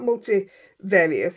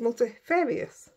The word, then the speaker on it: multifarious: So it's not multivarious. It's multifarious. So there we go.